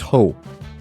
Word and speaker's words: Ho: That's pronounced Ho. I know it's spelled weird, but it's still spelled better than most of Final Fantasy characters, so rack it up.